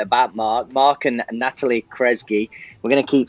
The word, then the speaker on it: Kresge: We've got Mark Kresge with us today.